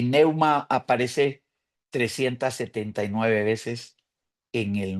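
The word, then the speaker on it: pneuma: Nuevo Testamento la palabra para espíritu es neuma neuma se escribe p n e u m a neuma y aparece 379 veces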